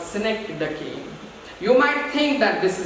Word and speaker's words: synecdoche: So you can pronounce it in many wrong ways, but it is pronounced as synecdoche.